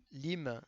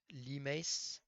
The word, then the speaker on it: limes: Lime, c'est les frontières fortifiées de l'Empire romain, prononcé limes. Ah, je l'ai mal prononcé depuis le début.